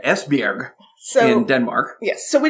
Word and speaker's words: Esbjerg: So she was born in 1913 in Eichberg, Denmark. Right. And I probably butchered that pronunciation. I apologize to that one Danish listener we have. What is it? Esbjerg.